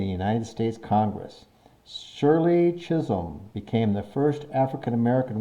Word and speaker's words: Chisholm: Chisholm. That's how we're going to pronounce that. Chisholm.